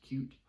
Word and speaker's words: Qt: frameworks are c plus plus qt sometimes it's pronounced cute is my go-to framework on desktop um it